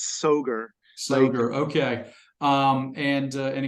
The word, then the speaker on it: Soghor: an interview with soor is that how we pronounce your last name yes that's a fine pronunciation any pronunciation is fine but yes soar so okay um and